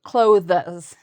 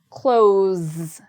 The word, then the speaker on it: clothes: So what I often hear people do is they break up the word and they say clothes, clothes. I like your clothes. So that's one mistake I hear. So it's one syllable. And again, there's a Z at the end. Close.